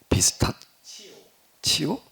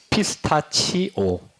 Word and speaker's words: 피스타치오: 비스타치오? 비스타티오? 티오 비스타. 다시 직접 마이크 대고 정확하게 발음 얘기를 해봐. 피스타치오.